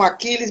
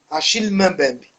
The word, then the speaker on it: Achille Mbembe: Tem alguns chamam Aquiles, mas como ele é francês, como é camaronês e camarão, a segunda língua, né, do colonizador é o francês. Meu pai, que fala francês, disse que a pronúncia mais adequada é Achille Mbembe.